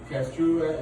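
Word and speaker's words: Kastruba: Castruba is spelled K-A-S-T-R-U-B-A.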